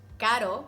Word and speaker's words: caro: there're words that mean different things whether you pronounce it with ere or erre like pero meaning but and perro meaning dog caro which is expensive and carro which is a